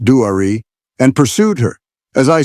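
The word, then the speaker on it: Duare: and they saw Dwir, pronounced Dwari, and pursued her.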